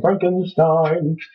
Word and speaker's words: Frankenstein: Young Frankenstein. Frankenstein. Frankenstein! No, it's Frankenstein, actually. It's actually Stein. No, it isn't. Pronounce Stein. German pronunciation is it's Stein. It's a German myth!